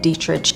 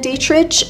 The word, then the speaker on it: Dietrich: interviewed Marlene Dietrich, and the way I'm saying her name is exactly how Marlene said it should be pronounced, that most people would pronounce it as Marlene Dietrich, but no. It was Marlene Dietrich, which is a little hard for me to get used to because I did always say it the wrong way.